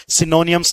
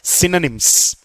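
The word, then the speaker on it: synonyms: सिनोनियम्स नहीं है बेटा। ओ साइलेंट रहने वाला है। सिनोनिम्स इट्स नॉट सिनोनियम्स। इट्स सिनोनिम्स।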